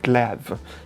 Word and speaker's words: glaive: like blued sord hands they call it glaive glav in in French it's a beautiful hands